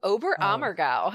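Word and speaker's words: Oberammergau: yeah the oberhammer right you say it's ober ober amargo is how you say it yeah no they do it every 10 years this huge passion play obram or go this is a big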